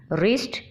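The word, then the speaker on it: wrist: रिस्ट, रिस्ट में W silent है।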